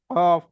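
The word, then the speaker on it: كاف: কেমন উচ্চারণ হয় কাফটা হচ্ছে জীবের গোড়া থেকে একটু আগে অর্থাৎ সামনের দিকে এসে একটু আগে বাড়িয়ে তার বরাবর উপরের তালুতে লাগিয়ে এটা যেমন শুরুতে একদম গোড়া দিয়ে আপনার কফ উচ্চারণ হচ্ছে এটা সামনের দিকে কিছুটাই এসে কাফ দেখেন কাফ কাফ প্রায় মাঝা বরাবরের একটু মাঝ বরাবরের একটু আগে বুঝতে পারলেন মানে মানে গোড়া থেকে একটু দূরে এসে কাফ কাফ বুঝতে পারলেন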